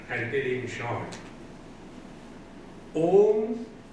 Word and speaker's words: Om: Om has 3 syllables, A, U, M.